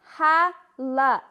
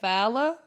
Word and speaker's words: Hala: loijan and as usual you are not saying my name right nope it's ha la h a l a i know your name